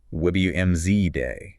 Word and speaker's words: Wednesday: Silent D in Wednesday. WMZ day.